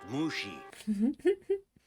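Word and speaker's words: Mushi: Mr Lee and Mr mushy is it it's pronounced mushy telling me how to do my job no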